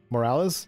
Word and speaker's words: Morales: the concourse of cat mccarran is her name pronounced morales morales yeah yeah morales tells you her husband perished